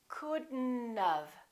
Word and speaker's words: couldn't: have look at this we pronounce the D and then we connect the D next to the N and then the O